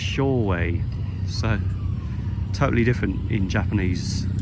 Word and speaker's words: Shoei: Britain, and it's pronounced Shoei. So totally different in Japanese, the pronunciation, but you can see why we would in English pronounce it Shui, because it looks like Shui, doesn't it?